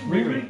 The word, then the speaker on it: Riri: Is that how we're pronouncing her name? Riri.